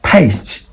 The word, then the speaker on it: paste: So it's not pronounced as Island. That's wrong. Okay. And past, but paste.